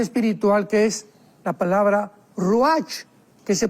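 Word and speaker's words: רוח: y la parte espiritual, que es la palabra ruach, que se pronuncia ruach.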